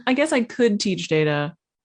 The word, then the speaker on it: Data: I would like to be able to, off the top of my head, teach Data. I almost said data. You can say data. Teach that's Data. That's still a valid pronunciation.